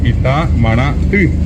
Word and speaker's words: Itamaraty: O uno dice el lugar, el centro de la alta política brasileña, Itamaraty, y ellos escriben Ti con la Y, y allí es correctamente pronunciado Itamaraty.